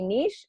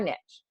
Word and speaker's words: niche: the niche mean again pronunciation can be niche or niche definition by merriam-webster is